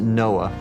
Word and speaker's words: NOAA: For example, when I was with the National Oceanic and Atmospheric Administration, we pronounced it NOAA.